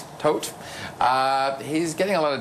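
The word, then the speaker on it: Toet: I want to talk about this Conservative MP, Lawrence Tohet, is that how you pronounce it? Tohet.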